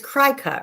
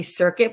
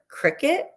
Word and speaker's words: Cricut: How do you, it's Cricut, right? Is that how you say it? I always want to say circuit, but it's not because it's CR, obviously.